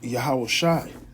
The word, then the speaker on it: Yahawashi: And just like the precept goes into that name being just like the branch, which is Joshua, but pronounced Yahawashi.